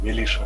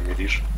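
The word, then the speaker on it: militia: Да, ну, милиша, говорится. На немецком так произносится, да? Нет, на английском тоже милиша.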